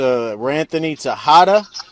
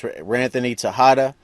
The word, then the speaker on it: Ranthony Texada: and I'm talking to Ranthony Tejada. That's the name. That's the way you pronounce his name. I know it's spelled with an X, but it's Ranthony Tejada.